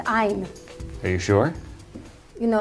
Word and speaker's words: Ayn: please welcome rob delaney hello anne thank you for having me it is pronounced i'm are you sure you